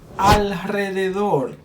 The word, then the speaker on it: alrededor: So, after these three consonants, L, N y S, we pronounce it strong, the strong R. Ejemplos. Enrique, Enrique. Israel, Israel. Alrededor, alrededor.